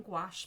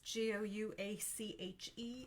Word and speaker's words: gouache: And I am using gouache paints. G O U A C H E is how you spell that.